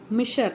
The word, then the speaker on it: Miescher: So spelling is FRIEDRICH, Frederick Misher, MIESCHER, in 1869 in pus cell.